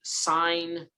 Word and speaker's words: sin: look at is the sine uh this s i n here that's pronounced sine and notice it has